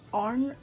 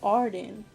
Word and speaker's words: Arden: Taking Cyborg from the Elizabeth Arnold. How do you say her name? What? I'm filming. Shit. Blush brush. Red lipstick from Elizabeth Arden? No, Arden. That's how you say it.